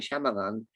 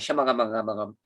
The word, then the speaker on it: Shyamalan: Night Shyamalan, I call him M. Night Shyamalan.